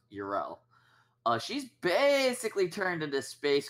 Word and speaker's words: Yrel: No, Yrel. It's pronounced Uriel.